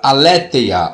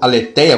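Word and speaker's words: ἀλήθεια: Aí no apocalipse não existe a palavra aléeteia ou aleteia, como alguns pronunciam, não existe no apocalipse.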